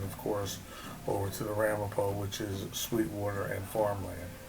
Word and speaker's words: Ramapough: The original spelling of Ramapough is how the school and the police station spell it, R-A-M-A-P-O.